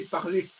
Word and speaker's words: parler: Par exemple, le mot parlare, c'est une déformation du français parler. Parce que l'italien ne sait pas que la forme ER en français dit l'infinitif, le R ne se prononce pas.